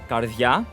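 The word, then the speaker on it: καρδία: try to pronounce this is pronounced as karthia which means in the literal literal sense heart so here's the thing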